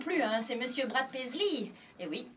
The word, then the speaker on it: Paisley: Oui, on a commencé par on le présente plus, hein, c'est Monsieur Brad Paisley. Et oui, le EY se prononce I, donc on le prononce à l'américaine.